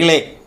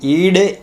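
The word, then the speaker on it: ईळे: Similarly, Agni Ile, that La pronunciation is seen in Vedas, not in classical Sanskrit. There is only Da. Agni Ide is the word in modern Sanskrit.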